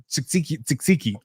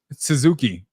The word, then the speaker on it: tzatziki: I've never seen olives or whatever they put, or tzatziki. Israelis have tzatziki. Israelis eat tzatziki. Suzuki. How do you say that word? No, the first way you said it was right.